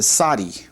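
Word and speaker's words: צדי: And then the 18th letter of the Hebrew alphabet is called a saudi. Saudi. This has uh an S sound.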